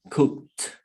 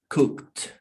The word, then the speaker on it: cooked: k cook cook so we pronounce it in past with the letter t cooked repeat everyone cooked cooked so here is